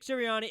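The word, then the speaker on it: Sirianni: say the coach's name for the Eagles Nick serrani Syria okay Nick siriani at halftime um I'll I'll see if I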